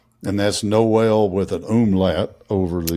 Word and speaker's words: Noel: It's like the first Noel. And if you want to be pinky in the air, it's it's pronounced Noel.